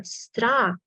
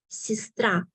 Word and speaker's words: сестра: Сестра. When letter E is not stressed, let's see in the book here, we pronounce it as I, сестра, сестра. You do not hear clear сестра, it's I, сестра, сестра.